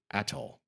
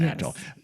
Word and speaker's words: atoll: I've just been informed by Carrie that the pronunciation is either atoll or atoll.